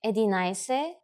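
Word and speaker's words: единайсет: In spoken language, Bulgarian people add ise or dese instead of 10, deset, when they pronounce the numbers from 11 to 90, like edinaise or 80, which are 11 and 80.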